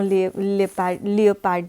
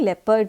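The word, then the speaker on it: leopard: ठीक है, snow लियोपार्ड जिसको बोलते हैं हम लोग, लेपर्ड जिसको सॉरी प्रोनाउंसिएशन के लिए स्नो लेपर्ड जो होता है, उसे लद्दाख ने अपना राज्य पशु घोषित किया है।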